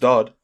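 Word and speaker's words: Doddd: of the start as well no it's still pronounced dodd but it's spelt o triple d we've got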